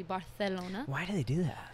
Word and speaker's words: Barcelona: And then the soft C, like in Barcelona, would be Barcelona.